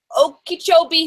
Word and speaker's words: Okeechobee: Janie Crawford, Florida, the Great Okeechobee Hurricane. That's supposed to say hurricane. As a Floridian, you did really great pronouncing that.